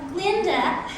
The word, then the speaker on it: Galinda: Glinda, the duh is silent.